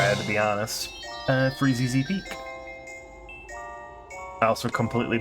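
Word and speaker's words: Freezeezy Peak: Uh, Freezy Z Peak. I also completely butchered that as a kid. Just called it Freezy Peak.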